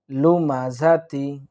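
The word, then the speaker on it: لمزة: রাখি সেটা হচ্ছে দেখুন গোলতা যদি কোন আয়াতের শেষে থাকে তাহলে ওয়াকফের হালতে গোলতাটা হা এর উচ্চারণ হয়ে যায় অর্থাৎ হায়ে জজম দিলে যে উচ্চারণটি হয় ঠিক গোলতা ওয়াকফের হালতে সেই উচ্চারণটি হবে যেমন এখানে লুমাজা তিফ করে থেমে যাই তাহলে লুমাজা লুমা এভাবে আমরা পড়ার চেষ্টা করবো ইনশাল্লাহ এরপরে দেখুন এই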